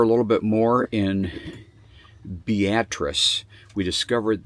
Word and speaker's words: Beatrice: little bit more in beatric we discovered the way you pronounce this town as beatric and uh I thought it was beatric but beatric we discovered and so we'll go